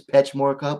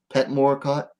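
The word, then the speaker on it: Petchmorakot: well it's like the the ch is silent so it you'd think it's petch more cup but it's pet more cut or semi-pet well it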